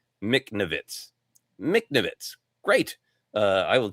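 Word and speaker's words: Michnovetz: It's pronounced Mcnavitz."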